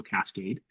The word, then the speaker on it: Cascaid: Cascade is spelled CASCAID, Oh, ID. Yep. like yeah, AID. So Cascade.